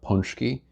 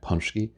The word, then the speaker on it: pączki: So the Polish had something called pączki. I think I'm pronouncing that right, pączki, which is kind of a sweet bread.